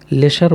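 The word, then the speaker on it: leisure: तो LEI, ली, SURE, लीजर। लेशर बोलता है डिक्शनरी, लेशर, लेकिन हमको उतना अंग्रेजी में अभी घुसना नहीं है, लीजर ही पढ़ लो, आपको काम आ जाएगा।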